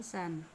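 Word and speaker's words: 三: Ongyominya dibaca san. Kemudian ada juga dibaca Mitsu ya.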